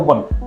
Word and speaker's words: one: No, one is actually pronounced one, not O-N-E.